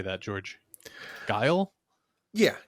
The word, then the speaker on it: Guile: Guile? Yeah, Guile.